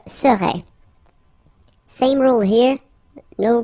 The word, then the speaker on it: serais: Remember, so A-I-S, but then you don't pronounce the final S. Je serais. Same rule here, no pronunciation of the final S. Tu serais.